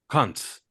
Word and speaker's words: Kuntz: And man, I keep looking up his pronunciation, and damn it, if the pronunciation of his name is not Zach Kuntz.